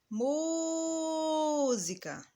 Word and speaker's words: música: Música. Olha agora, eu demorei mais pronunciando a sílaba mu.